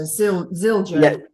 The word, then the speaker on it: Zildjian: So Zildjian. Yeah. Do you know how to spell it, Victor?